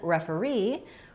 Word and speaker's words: referee: And then referee has the stress on the last syllable re, which means the first re sound is going to be short and reduced. It does have some secondary stress because it does have the clear vowel.